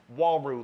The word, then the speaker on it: Uaru: about the wall room spelt you AR you pronounced wall rule like W a roo so many people get